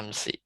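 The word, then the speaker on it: أَمْسِ: mabniun alas Alal kasri jadi bacanya amsi sinnya Bil kasri wa dakolat alaiha al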